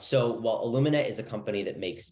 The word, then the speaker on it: Illumina: you're doing now with illumia uh am I pronouncing it right Lumina Illumina sorry I got it right in the intro I got it wrong there but this is very